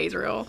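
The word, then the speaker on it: Azriel: know what i mean so i just say a israel sure but it's like come on as or did you say come on a's no i say ass see like his nickname is ass yeah but i don't know i still say azrael all right well it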